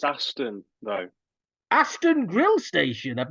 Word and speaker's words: Aston: It's pronounced Aston though.